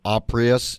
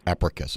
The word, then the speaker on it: Apricus: joined on the show with richard pascoe ceo oprius did i pronounce it correctly richard no uh it's africa biosciences sounds greek you're close africus all right thanks for helping me out with